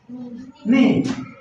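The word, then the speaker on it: knee: ই কার ঠিক আছে যেমন এন ডাবল ই নি কে এন ডাবল ই নি মানে হাঁটু এখানে কে এর উচ্চারণ হয় না কে এন ডাবল ই নি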